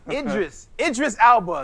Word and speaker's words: Idris Elba: You threw an L in the first name. Jessica Alba. Idris Elba.